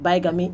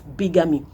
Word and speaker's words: bigamy: The first is that you might have been mispronouncing this word as bigamy. It's not bigamy, it's bigamy.